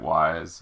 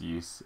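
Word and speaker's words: Ys: nepotism sorry about my hand uh some people pronounce it wise uh I'm pretty sure it's pronounced ye um it's just a PSP game um It's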